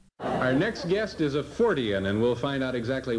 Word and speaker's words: Fortean: Our next guest is a Fortean, and we'll find out exactly what that is from him.